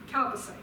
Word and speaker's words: chalcocite: And charcoalsite, is that the proper pronunciation? How do I say that? The mineral. Chalcocite, thank you.